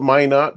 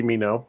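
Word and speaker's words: Minot: stopped in uh well they call it my knot but it's actually me know because they're pronouncing it incorrectly but um and then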